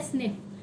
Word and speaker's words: SNP: देखने को मिला है, जिसे हम SNP कहते हैं, सिंगल न्यूक्लियोटाइड पॉलीमॉर्फिज्म, जिसे आज प्रोनाउंस ऐसा किया जाता है स्निफ, जो कि कहाँ मिलते हैं?